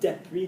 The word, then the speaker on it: depuis: Well done, depuis, not depuis. Ginny's pronouncing it properly. Okay, there's not an accent on the E, so depuis.